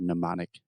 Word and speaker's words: mnemonic: my own yeah so you can kind of forget that first m in the word mnemonic it starts with an n in pronunciation okay so yeah I